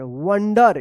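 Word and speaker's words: wonder: डब्ल्यू ओ एन डी ई आर वंडर।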